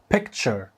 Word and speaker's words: picture: نفس دي ولا لا صوره كنت بقولها شر ولكن النطق الصح بتاعها هو بيكتشر بيكتشر تاني بيكتشر حاول تعيد